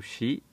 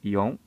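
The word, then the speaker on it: 四: Então, esse é o kanji do número 4, que pode ser pronunciado shi ou ion, mas quando estiver isoladamente é preferível falar ion.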